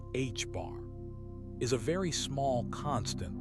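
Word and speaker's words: ħ: Delta represents the uncertainty in momentum and hstroke pronounced hbar is a very small constant that relates to plank's constant.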